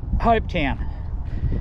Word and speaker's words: Hopetoun: center welcome to ho hope town know how it's spelt guys if you're looking it up t-o-u-n still pronounces the same doesn't it town um it'd be up